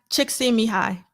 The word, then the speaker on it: Csikszentmihalyi: Csikszentmihalyi. That's how you pronounce his name.